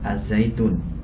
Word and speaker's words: Al-Zaytun: tanggapan tentang pondok pesantren Az zaitun ya Jadi kalau tulisannya Itu kan Al Zaytun tapi kita bacanya karena alif lam syamsiah di sana ya Nah